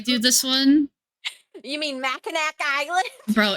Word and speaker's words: Mackinac: I thought Mackinac growing up, and then I like found out, oh, it's Mackinac, and I'm like, that's why I called it Mackinac because of how it's spelled.